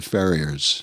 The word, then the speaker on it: Ferrier: Is it Ferrier or Ferrier? Oh, I think like the dog or like the sparkling water. I think it's like the dog. I think it's like the American pronunciation of the Ferriers.